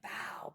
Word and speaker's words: Pao: I saw you going bow bow. Yes, that is how you say my last name.